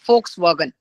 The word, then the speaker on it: Volkswagen: you are aware of either Volkswagen it is called as but in the pronunciation we call it as folkswagen so this company there